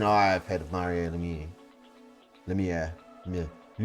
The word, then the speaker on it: Lemieux: Lemieux. Lemieux.